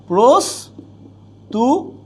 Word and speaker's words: প্রস্তুতি: ত যুক্ত আছে আচ্ছা আবার এখানে কি আছে প্রস্তুতি তাইলে র ফলার জন্য কি হয়ে যায় উকার তাইলে প্রস্তুতি আচ্ছা এর বাহিরে আসি